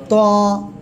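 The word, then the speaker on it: ط: ত। কোন জায়গা থেকে উচ্চারণ? জিহ্বার আগা, সামনের উপরে 2 দাঁতের আগার সঙ্গে না, গোড়ার সঙ্গে লাগাবেন, লাগে মোটা আওয়াজে উচ্চারণ হবে।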